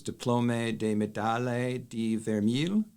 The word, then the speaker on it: Diplôme de Médaille de Vermeil: And then there's also there's a French award, and you can correct my pronunciation, which is DIPLôME de MÉDAILLE de VERMEIL. Perfect.